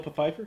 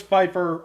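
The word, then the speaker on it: Pfeiffer: been a good choice Michelle peifer yeah peifer yeah peifer no no I know it's Fifer I just like say pu Fifer all right just like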